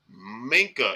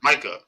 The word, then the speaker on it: Micah: Minka is not on this list. Minka who? I'm sorry, Micah.